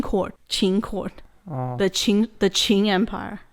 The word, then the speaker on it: Qing: So upon the first Qing emperor's death, the empire plunged into civil war.